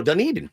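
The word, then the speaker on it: Dunedin: Dunen, Dun Eden. Oh, Dun Eden.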